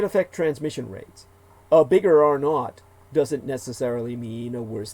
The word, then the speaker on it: R0: basic reproduction number R uppercase R zero pronounced R not and though useful for